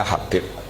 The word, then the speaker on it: Habib: Itu di harakatnya kitab itu ada yang nulis Hubab. Tapi yang benar Oh, nggih. Yang benar itu bacanya Habib.